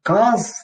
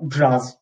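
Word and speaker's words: Caz: В турецком буква Си в начале слова читается как J. То есть это не КАЗ, не ЦАЗ, это Jazz.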